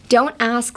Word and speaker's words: don't ask: Don't ask stupid questions. Hi. So don't ask, pronunciation, don't ask. The T is silent.